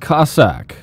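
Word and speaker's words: Kossack: Next up, Kosak 4. It's pronounced Cossack. Probably the best Kosak stage, unfortunately.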